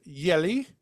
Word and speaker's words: Jelly: When two Hungarian sisters named Yelli Mhm. Deanna, but it's spelled like jelly, which is fun.